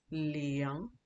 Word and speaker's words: liang: But just to give you an example of um, this, this is liang, liang, liang. You can see my G is not silent.